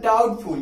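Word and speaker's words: doubtful: चलिए देखिए यहाँ लिखा हुआ है डाउटफुल. क्या लिखा हुआ है? डाउटफुल. मैंने कहा टी के पहले बी साइलेंट होता है. तो देखिए टी के पहले क्या है? यहाँ बी है.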